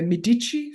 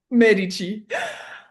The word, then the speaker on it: Medici: And the, you know, the Medici family. Yeah. Hope I pronounced right. Medi Medici.